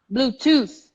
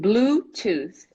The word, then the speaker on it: Bluetooth: right way right here so the pronunciation is Bluetooth okie-dokie bluetooth bluetooth bluetooth bluetooth bluetooth exactly so the first syllable is a strong one bluetooth bluetooth my computer